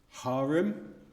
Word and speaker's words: harem: I never know how to say this word, harem, how do I say it?